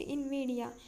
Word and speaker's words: NVIDIA: As the company name is stylized, NVIDIA is pronounced Invidia, a Latin word for envy.